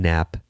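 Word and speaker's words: Knapp: Love Story by Caroline nap nap is spelled KNN AP it's a very insightful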